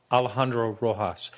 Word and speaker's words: Alejandro Rojas: Alejandro Rojas. It's not actually the Spanish way. That's I won't do it, but it's totally different. But that's the American way of pronouncing his name.